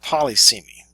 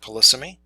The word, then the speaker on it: polysemy: And we'll talk about polysemy, although some people pronounce the word polysemy. In biblical studies it's typically referred to as polysemy.